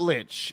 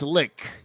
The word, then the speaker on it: lich: right here we go a lich like birch but it's not lich it's lick that's correct pronunciation now oh if it's